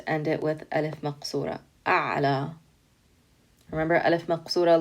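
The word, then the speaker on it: ألف مقصورة: it with alef remember alif maksura looks like a ya but it doesn't have dots and it's pronounced like an alif so same thing here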